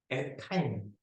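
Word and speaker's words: 에타인: C2H2를 에타임이라고 읽어요. 에타임.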